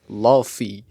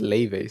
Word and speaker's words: Laufey: Damn, Laufey, or I guess if you pronounce it as it's written, Laufey, but Oh. yeah, but Yeah. she says that it's pronounced Laufey, so Laufey.